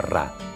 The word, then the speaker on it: Ra: Champollion sabía que en copto el nombre del sol en el antiguo Egipto se pronunciaba Ra.